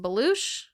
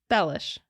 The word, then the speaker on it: Bellush: quad mom Sheila bellish I thought that it was pronounced beloo it is not is not from all of my resources is not it is it is say it because I can't remember how to say it bellish bellish before we get started